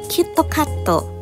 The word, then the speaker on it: キットカット: a good raksham because kitkat in japanese is pronounced kitto katto which actually sounds very